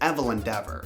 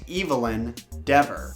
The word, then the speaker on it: Evelyn Dever: That's just one idea, could be wrong, but I can't help but notice that Evelyn Dever's name sounds like evil in Dever. Maybe that's actually how it's pronounced. Evelyn Dever.